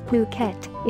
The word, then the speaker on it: Phuket: worldwide the beautiful tropical island of Phuket fortunately pronounced as Phuket is frequently and justifiably referred to as the